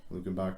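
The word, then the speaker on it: Luckenbach: It's like Lukenberg, Texas, but there's no ER or something. Lukenbach, Texas. Something like that, yeah.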